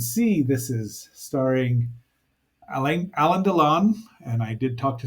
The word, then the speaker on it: Alain Delon: this is starring alen Alan donon and I did talk to somebody about the pronunciation of that and even though it has an i in it it's Alan donon he was a very